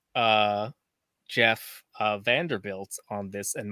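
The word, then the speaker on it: Geoff: i was telling you it's jeff like g-e-o-f-f yeah spell for the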